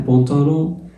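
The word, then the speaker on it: pantalon: ان بونتالون الا مع الان بتتنطق اون.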